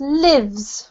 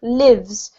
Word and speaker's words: lives: thank you Adela lovely um this one is pronounced lives lives because it's the verb not the noun okay